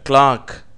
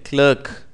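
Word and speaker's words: clerk: நீங்கள் திருப்பி சொல்லிப் பாருங்கள் கிளாக் இந்த வார்த்தை ஆங்கிலேயர்களாலே இப்படியாக கிளாக் என்று உச்சரிக்கப்படுகிறது அமெரிக்கர்கள் இதை கிளர்க் என்று சொல்லுகிறார்கள் அனியன் மெலன் கேபேஜ் வாட்டர்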